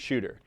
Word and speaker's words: Chuter: it all the straight shooter it wants to go straight and fast and it's spelled shoot like c-h-u-t kind of like down a chute or a cool works